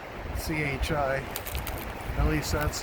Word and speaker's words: chi: some symbology is uh kai c-h-i at least that's how i think you pronounce it i don't think it's chi or chai i think you call it kai anyway that represents christ